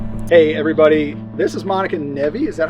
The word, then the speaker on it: Monica Nevi: Hey everybody, this is Monica Nevi.